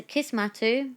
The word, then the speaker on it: Kismattu: So it's a Kismattu. So it comes from the word Kismet, which is like it's a word used, and it means destiny.